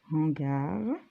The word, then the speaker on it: hangar: Alors, ce mot, il commence par H, mais c'est pas un H muet. On dit ce hangar est spacieux.